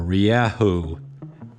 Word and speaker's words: Rieju: enduro today we've got the riju or riahou if you want to pronounce it correctly i like riju this